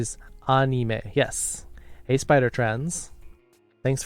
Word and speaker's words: anime: So the proper use of the word is anime, because it's animation. However, it's just really, there's a lot of inertia of people pronouncing it wrong, like people saying karaoke.